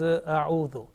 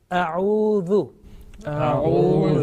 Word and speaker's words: أعوذ: Okay, make sure that alif, which is at the same time becomes hamza because of fatha. Okay, hamza alif. This is only for 1 second. If we prolong that one, then the pronunciation will be wrong. So if I say it will be wrong. Now remember, the next letter